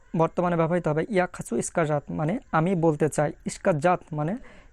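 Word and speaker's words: сказать: ইস্কাজাতের উচ্চারণ বিশ্লেষণটা কী হবে। প্রথম যে অক্ষর দেখা যাচ্ছে এটা তো আপনারা জানেনই, ইস, তারপরে কে, তারপরে আ, ইস্কা, ইস্কা। তারপরে দেখেন যেটা দেখতে পাচ্ছেন এটার উচ্চারণ ইংরেজিতে যে জে আছে সেই জে এর মতন, এবং বাংলাতে বর্গীয় জয়ের মতন, শুধু বর্গীয় জয়ের মতন। তাহলে জে এ মানে জে আ তে, তারপরে লাস্টের যে অক্ষরটা দেখতে পাচ্ছেন এটা কোনো উচ্চারণ হয় না।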